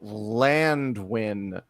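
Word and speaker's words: Llanddwyn: This, by the way, they're on the island of Llandwyn, which is spelled Landwyn, but with 2 L's and 2 D's in Wales.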